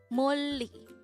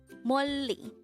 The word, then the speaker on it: 멀리: 멀리. 멀리. This is pronounced as a two-syllable word.